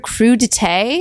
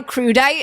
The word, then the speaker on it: crudité: Nor did I know the word crudité. Crudité. Or crudite, as I'm pretty sure I pronounced it the first time.